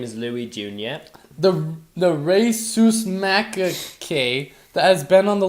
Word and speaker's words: rhesus macaque: It's spelled RHESUS It's rhesus macaque. Sounds like racist macadamia.